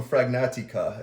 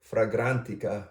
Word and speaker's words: Fragrantica: Let's go over the notes, and I just read them, but let's take from Fragnatica.